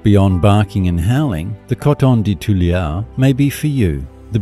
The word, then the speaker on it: Coton de Tuléar: Coton de Tuléars, pronounced Coton de Tuléar, are small and incredibly affectionate dogs with a white, long coat that does not shed.